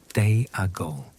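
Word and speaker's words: Déagol: His name is Deagal, which is written in Tolken's careful way with an accent mark over the letter E and pronounced something like Deal.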